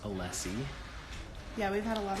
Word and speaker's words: Alessi: So her name is pronounced Alessi.